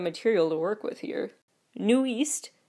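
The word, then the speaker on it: NU'EST: to work with here new East spelled that it looks like newest but it's new East Nu apostrophe EST stands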